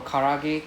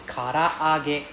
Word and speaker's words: karaage: as such right for karage karage right I mean in English we say karage karage lah but it's karaage there's double A there's double A there's Singapore always pronounce one A only karage even better some